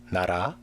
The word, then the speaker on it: 나라: The lir in 나라 and the lir in 달 and 실리 are pronounced differently.